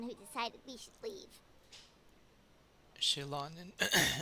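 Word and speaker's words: Xilonen: Shilonen. Shilonen is how you say.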